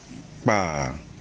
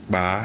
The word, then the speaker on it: kpaa: So the two are spelled the same but are pronounced differently based on the stress marks on them.